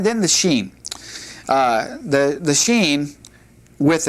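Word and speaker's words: שין: When it has the dot over here, then it has the sh sound, such as in the English word sherry. But if we take the dot off and it's on the left side like this, then it has just a simple uh s like in uh Abraham's wife Sarah.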